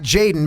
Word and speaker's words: Jxdn: His name is in fact Jxdn, but it's spelled Jaden.